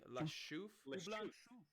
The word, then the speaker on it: La Chouffe: I'm gonna need help pronouncing this, fellas. I'd say La Chouffe. How would you say that? Chouffe. La Chouffe.